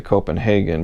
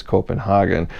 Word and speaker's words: Copenhagen: I think in America we say Copenhagen, but I think in Europe it's Copenhagen.